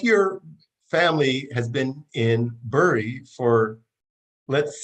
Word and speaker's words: Bury: I grew up in Bury on Victoria Road, the road to Canterbury. I noticed that you pronounce the town as Bury, but I only knew it as Barry.